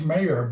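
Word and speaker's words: Mare: i we're watching is it's pronounced mayor but it's m-a-r-a east town mara east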